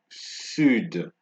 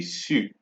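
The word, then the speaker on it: sud: pronounced is the word should right you can hear the D being pronounced in this word it is not two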